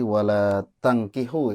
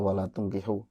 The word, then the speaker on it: ولا تنكحوا: Tadi yang ayat 221 tadi wala tangkihu ya. Ibu tadi bacanya wala tungkihu. Ini ada dua, yang satu memang wala tungkihu, yang satunya wala tangkihu. Nah, Ibu baca dua-duanya wala tungkihu ya, mungkin keceletot ya,